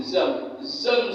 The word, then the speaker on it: Zamzam: Mesir bukan orang Arab Zoom bacanya zam Zoom zam zam zam ngumpul ngumpul biar airnya